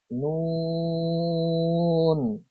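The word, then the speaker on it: نون: 9 number মাখরাজ, জিহ্বার আগা তার বরাবর উপরে তালুর সঙ্গে লাগিয়ে উচ্চারিত হয় নুন।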